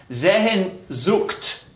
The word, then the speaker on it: Sehnsucht: Pronounced Sehnsucht, thank you, means searching or in search of something.